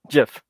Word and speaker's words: GIF: the name from oh Jeff yeah oh no don't don't get into that debate um I know the original author pronounces it with the soft G but no that doesn't